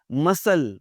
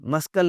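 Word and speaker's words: muscle: मसल, मस्कल नहीं बोलना।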